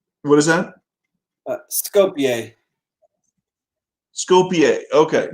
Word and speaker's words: Skopje: How do you pronounce it? Scope It's like, what is that? Skopje. Skopje. Okay, not Skopje. Okay, Skopje.